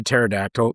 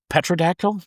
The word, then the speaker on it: pterodactyl: I'd try and keep the pterodactyl, the petrodactyl. Pterodactyl. Pterodactyl. PT. Pterodactyl. Yeah, pterodactyl. Pterodactyl. Yeah. The P is silent.